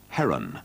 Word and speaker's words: Hearn: remarked that he had liked to pronounce his own surname heron rather than hearn in this and throughout